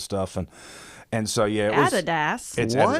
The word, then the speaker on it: Adidas: And and so yeah, Adidas. That's how you say it. It's Adidas. It's not Adidas.